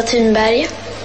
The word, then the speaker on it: Thunberg: My name is Greta Thunberg.